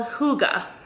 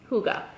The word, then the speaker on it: hygge: all winter it says it's called Huga so I say that's how it's pronounced Huga and basically I read through